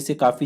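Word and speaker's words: Tso Kar: यह आपको indirect way से काफी जगह देखने को मिलेगा सोमी रेरी फिर है सो का वेटलैंड एसओ 100 टी साइलेंट होते है इसमें तो यह ध्यान में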